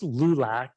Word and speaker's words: LULAC: from the league of United Latin American citizens pronounced lulac the AC the acronym and that is in